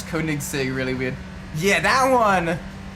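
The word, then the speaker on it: Koenigsegg: I used to pronounce kig Sig really weird yeah that one I think I think when I was younger I used to pronounce it coig Sig like no it's kig Sig coig Sig kig Sig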